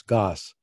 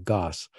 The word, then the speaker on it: Gosse: every class I want to make sure you pronounce my name correctly it's Goss yeah Goss that's okay um an Old English name strange